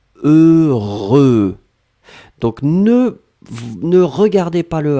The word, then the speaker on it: heureux: Le premier son c'est E et le deuxième son c'est R. Vous allez voir après que vous avez E, R, E. Le E, vous le prononcez deux fois. Heureux.